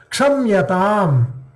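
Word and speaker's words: क्षम्यताम्: Kshamyatam. Kshamyatam. So what is being pronounced? Ka is pronounced half, Sha is pronounced full. Because Ka is half, Sha is full.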